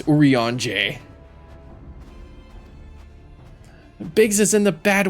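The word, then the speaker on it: Urianger: Oran for a while I was saying it as like orong or yaner no it's uran bigs is in the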